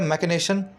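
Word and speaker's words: machination: चलिए next word है मैकिनेशन। देखिए लिखा गया मशीनेशन, मशीन वाली स्पेलिंग से ही बना है ना ये, मशीन, MACHINE मशीन, लिखा गया मशीनेशन, लेकिन बोला जाता है मैकेनेशन।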